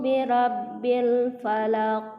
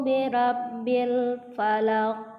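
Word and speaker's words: الفلق: birabbil Falaq call hai hai a cool a'udzu birabbil Falaq wa-nya tolong diperhatikan ayat pertama itu bedakan bunyi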